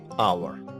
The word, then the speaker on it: hour: this h is silent this h in this word hour is silent that's why we have